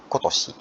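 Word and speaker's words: 今年: Jadi minasan bisa lihat ini kanji ima, ini juga ima, ini ima, tapi bacanya beda semua. Ini bacanya kyo, ini bacanya kong, kongetsu, ini bacanya kotoshi.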